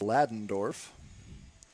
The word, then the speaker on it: Ladendorf: I'm sorry, apparently it is pronounced Ladendorf. Tyler Ladendorf, the shortstop, coming up now.